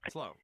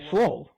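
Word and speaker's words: sloe: Slow. That's soul. Slow. Slow. The L is first. S L O E. Yeah. Slow. Slow. Slow. Slow. It's pronounced S L O W. Slow.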